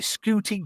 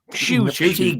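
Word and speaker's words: Ncuti: Is it Scooty Gatwa? Is that how you pronounce it? Shooty Gatwa.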